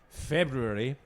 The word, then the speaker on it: February: Um uh this month, February, with both the Rs pronounced, um having a dry February.